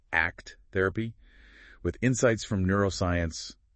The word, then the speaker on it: ACT: It fuses acceptance and commitment therapy, remember pronounced act therapy with insights from neuroscience and also somatic or body-based approaches.